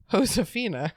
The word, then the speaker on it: Josefina: Remember that in Spanish, H is pronounced Wait, J is pronounced like H. That means Josefina's name is Josefina.